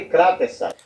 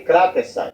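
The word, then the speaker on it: κρατῆσαι: A palavra é paroxítona. É kratesai. Não é kratesai e não é kratesai.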